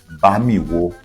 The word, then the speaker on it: Bamiwo: The word Bamawo, the name Bamawo, is a corruption from Bamiwo. Bamiwo. I used to pronounce it wrongly. I say Bamiwo. I asked my mom recently and she pronounced it very well, because the way I pronounced it meant something else. Bamiwo.